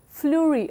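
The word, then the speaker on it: Fleurieu: pink because of Algy Fleury peninsula flurry pronounced as flurry Oh is DeLaet projecting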